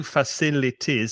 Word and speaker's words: facilities: 4 syllables, I can tell you, facilities. So be careful of the pronunciation. Facilities, and stress the second syllable, facilities. Well, facilities near my flat.